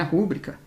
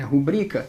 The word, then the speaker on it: rubrica: Aqui não é rúbrica, É rubrica. A sílaba tônica é a segunda.